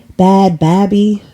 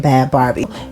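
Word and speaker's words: Bhad Bhabie: Barbie is it Barbie bad baby it's b-h-a-d-b-h-a-b-i-e but whatever I think you pronounce her name bad Barbie uh so she said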